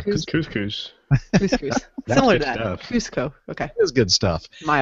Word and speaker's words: Cusco: So, so, uh, you know, I'm glad that you read that, um, stuff because I would have said Cusco. That's Cusco. Am I pronouncing it right? No, it's Cusco. Oh, it is.